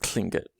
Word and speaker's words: Tlingit: of a better word so again that sounds sort of like cling it and i'm not claiming